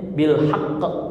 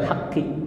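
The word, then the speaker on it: بالحق: walaupun dia di sini hqi bacanya bilhaqq Haq bukan Haqi ujungnya ya Nah itu jadi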